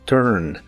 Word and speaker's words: turn: La T de inglés no se dice con la punta de la lengua entre los dientes como en español, sino que empieza con la lengua más atrás y arriba, bloqueando el aire en el paladar.